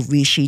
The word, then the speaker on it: reishi: There is also rishi tea or dried rishi. You can find it online and it's spelled R E I S Hi.